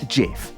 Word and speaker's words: GIF: format publicly declared that the acronym is pronounced Jif not GIF which is how most